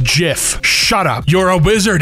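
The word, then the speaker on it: GIF: It's actually pronounced Jif.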